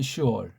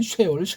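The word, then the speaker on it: שאול: 슈올. 네. 어근이 똑같아요. 이거. 여기 이제 오자만 하나 더 넣은 거예요. 슈올이라고 발음해야 돼. 이게 무슨 어떤 애들은 쉐올 그냥 혓바닥에 굴러가지 않는 확신이 없는 서양 엉터리 발음.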